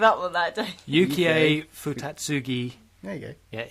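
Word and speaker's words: Yukio Futatsugi: No, that's not how it's pronounced. Yeah, you give up on that, don't you? Yukiei Futatsugi.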